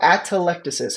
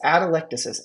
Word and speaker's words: atelectasis: right here it's called atelectasis how do you say that word it's atelectasis atelectasis atelectasis say it with me